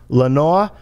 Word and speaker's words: Leonor: on two things number one your name is pronounced lenora wow okay number two nelson asked me